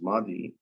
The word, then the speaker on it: ماضي: So the rhyming word is madi, it's pronounced the same but with different meanings.